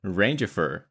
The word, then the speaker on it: Rangifer: Rangifer. R-A-N-G-I-F-E-R. Just like it sounds, okay? Rangifer.